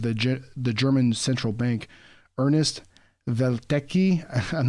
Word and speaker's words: Welteke: It's Welteke. The W's are pronounced like V's in German, so it might be Welteke or something like that. And Welteke.